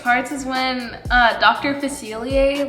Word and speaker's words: Facilier: said it earlier cecilia i literally could not pronounce that so mr facilier was that correct yeah okay let's see